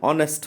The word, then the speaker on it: honest: And silent for example, here the an hour, an honest man, right? Here, H is silent.